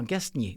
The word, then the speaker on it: Gastnier: Paul Gagier alors non, Gastnier. OK, on prononce le S, c'est bien parfait.